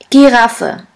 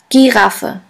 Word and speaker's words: Giraffe: the German word is Giraffe. Giraffe, which means giraffe. As you can see, the word giraffe is written exactly the same way as in English, but the pronunciation is completely different.